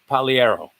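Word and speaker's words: Pagliero: um t-r-i-n that's easy trinsy v paliero i believe that's how you pronounce it right the g is silent p-a-g-l-i-a-r-o polyero 29 or 9 f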